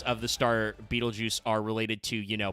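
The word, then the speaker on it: Betelgeuse: Uh they also uh do a lot of reference to uh Beetlejuice which if you don't know that is how you pronounce that star name. Betal juice.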